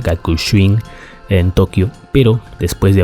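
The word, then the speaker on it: Gakushuin: de filosofía en la Universidad Gakushin, así se pronuncia, Gakushin, en Tokio.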